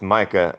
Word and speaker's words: Micah: You know, Mika oh, is a female name in Germany. Over here in America, it is pronounced Micah, and that is a male name.